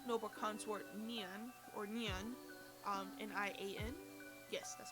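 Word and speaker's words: 年: Normally her name or her title precisely would be noble consort Nian or Nian, Nian.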